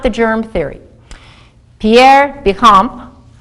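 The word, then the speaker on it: Béchamp: the germ Theory Pierre bicamp I probably said that wrong you're not supposed to pronounce the the p in in French these good bugs these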